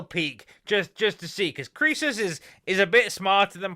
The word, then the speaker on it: Croesus: Now finally, I think it's pronounced Croesus. Yeah, he says here Croesus BTC.